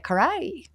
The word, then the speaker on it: Carey: her what's her very first Alum self-titled Mariah Karai one more that's how you say it um